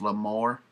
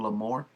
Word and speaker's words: L'Amour: Next we got Over on the Dry Side by Lois L'Amour. I think that's how you pronounce out his name, L'Amour.